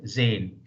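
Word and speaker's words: Sahne: will pronounce s h Zan mean s in the beginning is pronounced like Z so it is z you will not pronounce Zen H is silent here H is silent here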